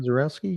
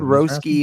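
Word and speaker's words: Misiorowski: Mizorowski, yeah, I've heard Mizorowski, Roski on video, but Mizorowski, maybe the minor pronunciation was a Y- little yeah, off. yeah, I've always heard that with the Mizor, Polish influences, yeah, Owski.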